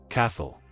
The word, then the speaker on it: Cathal: Number one, Cathal. Pronounced k a how, sometimes you'll hear it closer to k a h l, depending on the speaker. Cathal is one of the